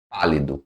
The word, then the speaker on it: pálido: Proparoxítona, sílaba tônica na antepenúltima sílaba. Aqui, ó, pá, pálido. Tá vendo? Pálido é aqui, ó. A sílaba tônica é essa aqui. Pálido.